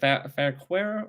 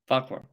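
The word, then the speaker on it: Fauquier: probably gonna mess up fair query fair quarrel how do you say it yeah it's actually fall yes sir he was born in 1780 farquhar no fuckwork fuckfur all right there you go you got it now you always have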